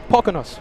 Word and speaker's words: Poconos: Poconos. Poconos.